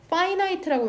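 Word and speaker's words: finite: 파이나이트라고 읽는다.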